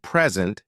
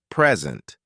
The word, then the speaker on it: present: For example, the word present changes meaning depending on stress. Present, a gift, versus present, to give.